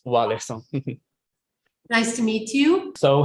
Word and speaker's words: Warleson: And we can it's Warleson.